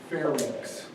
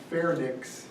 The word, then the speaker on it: pharynx: to somebody yesterday and the way you pronounce the second and the third anatomical part is pharynx and larynx it's not fair nyx and larynx if i hear you